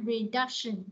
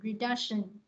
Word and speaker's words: reduction: Ví dụ mình đọc là reduction, nó re nè, reduction là nó có ba âm tiết và nó nhấn âm hai ha, reduction, reduction.